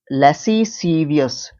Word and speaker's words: lascivious: LASCIVIOUS, लैसी, लैसी, लैसीवियस, है ना, लैसीवियस। एस और सी को एक स में पढ़ रहा हूं मैं, लैसीवियस, है ना, लैसी, लैसीसीवियस, हाँ, लैसीसीवियस, ये प्रोनाउंसिएशन सही है, लैसीसीवियस, है ना।